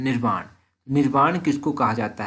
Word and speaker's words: निर्वाण: निवारण नहीं, एक्चुअली इसकी प्रोनाउंसिएशन है निर्वाण।